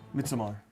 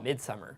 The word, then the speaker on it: Midsommar: Is that how you say it? Midsommar. Yeah. I've been saying Midsummer.